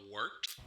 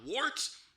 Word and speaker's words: Wort: Not warts, not forts, not short.